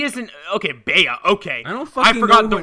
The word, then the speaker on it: Bea: B-E-A. When two vowels go walking, one of them the first one does the talking, and the second one stays Jerry silent. fucking Seinfeld. Okay, so I'm gonna say Bea because it does not